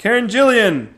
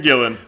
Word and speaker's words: Gillan: try again l fno Jillian or is it Gillan Gillan Karen Gillan which is a b Karen Gillan and most of the